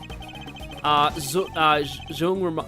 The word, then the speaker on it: Zung: Zung rhymes with the English word hung.